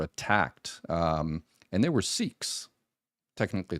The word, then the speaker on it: Sikh: Um and they were Sikhs. Technically it's they're called the correct pronunciation is sik sik but siks.